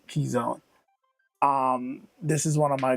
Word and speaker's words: Keyzone: So first up here today we have Keyzone, or it might be Keys One, but I think it's pronounced Keyzone.